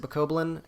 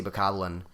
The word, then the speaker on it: Bokoblin: just because i've heard a lot of people pronounce it bukoblin and i i don't know why i to me it's pretty obviously bokoblin um but i think